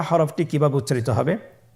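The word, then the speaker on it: حاء: হা হরফটি কিভাবে উচ্চারিত হবে? হা হরফটি উচ্চারিত হবে কন্ঠনারীর মধ্যখান হতে। গলা চিপে ধরে আপনি উচ্চারণ করুন।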